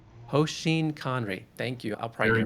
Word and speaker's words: hoshin kanri: This framework that you have learned from all that work at Toyota, how do you pronounce it properly? Hoseen Conry. Hoseen Conry.